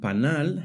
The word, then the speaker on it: panal: The word panal has the stress on the last syllable.